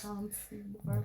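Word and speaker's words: Chuncy: That's That's technically pronounced Chunky, but in the gang world, it's Chunky Barbie, cuz she from 90s.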